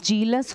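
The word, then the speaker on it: zealous: देखो ये जीलस है, इसका प्रोनाउंसिएशन जीलस होगा।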